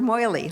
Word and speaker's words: Meili: a Swiss bank, and this is in the Maudsley, is that how you say it? Thank you. Christopher Maudsley, let me correct my pronunciation.